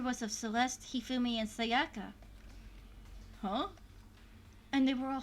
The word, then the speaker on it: Sayaka: Sakaya? That was wrong. Sayaka is how it's spelled, not Sakaya.